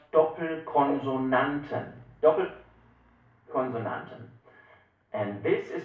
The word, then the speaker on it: Doppelkonsonanten: This is called Doppelkonsonanten. Doppelkonsonanten.